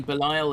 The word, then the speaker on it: Belial: i've been calling him belile i say bellio because that's how they say it in the show i mean belial is like kind of